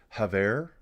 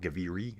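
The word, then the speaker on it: Gavere: So guys, coming up next, we're going to have Haver. I learned how to say it right. It's not Gaviri, as I was going to call it.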